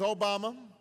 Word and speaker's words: Obama: funny name Barack Obama although people wouldn't say it right and they'd call me Alabama or they'd call me y mama and I'd have to explain all the Name's Obama and my father was from